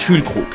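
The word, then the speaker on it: Füllkrug: la soirée Nicklas fkook la dernière lettre de son nom est un G quand cette lettre est en fin de mot quand il n'est pas précédé d'un i il se prononce que comme dans cœur et non gu comme dans glace c'est aussi la raison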